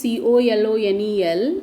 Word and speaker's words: colonel: Colonel is an officer of a high rank, high level in the army. Though the spelling is Colonel, the pronunciation is Colonel.